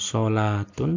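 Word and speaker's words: صلوة: Namun sebenarnya itu sama, bacanya adalah hayatun. Pada beberapa kata ini, yakni hayatun, solatun, sama zakatun, model penulisan pada cetakan Madinah adalah semacam ini.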